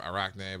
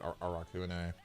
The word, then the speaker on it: Arakune: Arakune, or Arachne, but it's actually called. But they pronounce it Arakune.